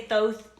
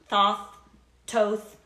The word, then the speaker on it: Thoth: here and there's all kinds of ways to pronounce it you know i'm like well some people say thoth toth uh this is hermes it just depends i